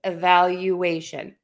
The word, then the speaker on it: evaluation: And we are going to say you like the word you. You are all here for my class. All right. So again, the rule is we're going to stress the syllable right before the shun. So in this case, it's going to be the a. But right before that a make sure you say you situation valuation graduation evacuation evaluation.